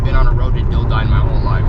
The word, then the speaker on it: Dildine: Turn left onto Dilden Road. Dildine Road is how he pronounced it. Dill Dine.